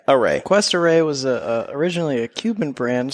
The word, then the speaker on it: Cuesta Rey: It's Cuesta Rey. Cuesta. You're on Rey. a quest. You're on a Like a quest. So Cuesta Rey. A Rey. Cuesta Rey was originally a Cuban